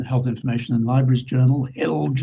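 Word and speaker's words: HILJ: This is an excellent article by him in Health Information and Libraries Journal, HILGE as we call it, to rhyme with bilge, back in 2008.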